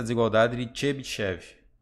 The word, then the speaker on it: Chebyshev: Então é o jeito que se pronuncia mesmo, ó, Chebyshev, ou em inglês eles colocam assim, vocês vão encontrar essas duas formas.